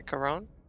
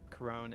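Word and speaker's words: Couronne: more specific where that is I must have mispronounced it it's uh uh c o u r o n n e yeah coron coron coron Northern pronia yeah Corone is the capital pronia you wouldn't be asking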